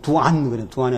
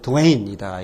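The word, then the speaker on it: Duane: 그래서 뭐, 드웨인 리핑 같은 거, 두안이 아니고 드웨인이다. 이건 드웨인.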